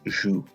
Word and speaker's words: joues: So, for example, you play football, tu joues au foot. Now, that tu joues there, that joue is pronounced the same way as je joue, but actually look at the spelling, tu joues es.